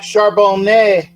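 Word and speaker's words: Charbonnet: I thought for Zach charbone who's on the screen right now that's all that's what I thought it was yeah yeah exactly and uh um there's a you don't pronounce the t in French because well they're pretentious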